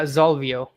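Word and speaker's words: Xolvio: Uh, Zolvio. Okay. So, it's like a Z, but it's spelled with an X.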